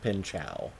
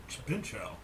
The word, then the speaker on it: Pinchot: And the first thing he said in his monologue is that it's actually pronounced Pinchow.